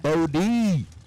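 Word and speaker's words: Bode: up B Bennett check Bodie check check I like the fact that you know sometimes they'll spell out the name phonetically you know whe it being b o d e it's bod Bennett check Che put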